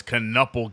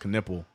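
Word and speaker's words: Knueppel: Handing the ball over to to Ball as Konopel gets killed or sorry. I I keep saying Konopel, but it's actually pronounced Knippel.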